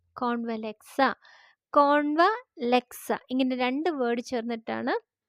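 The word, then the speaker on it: Convlexa: നമുക്ക് സ്വിച്ച് വേർഡിലേക്ക് വരാം ഇത് ഒരു ഇറ്റാലിയൻ സ്വിച്ച് വേർഡ് ആണ് അതുകൊണ്ടുതന്നെ ഇതിന്റെ ഉച്ചാരണം കുറച്ച് വ്യത്യാസമാണ് നമ്മൾ കേട്ട ഇതുവരെ കേട്ട സ്വിച്ച് വേർഡ് പോലെയല്ല കുറച്ച് വ്യത്യാസമായിട്ടുള്ള ഒരു സ്വിച്ച് വേർഡ് ആണ് സ്വിച്ച് വേർഡ് ഇങ്ങനെയാണ് ഉച്ചരിക്കേണ്ടത് കോൺവലക്സ കോൺവലക്സ കോൺവലക്സ സി ഒൻ വി എൽ ഇ എക്സ് എ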